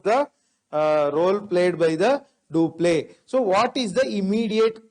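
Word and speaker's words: Dupleix: who is the governor of english in india do play was the governor of french in india do play so it is because of duplex role majorly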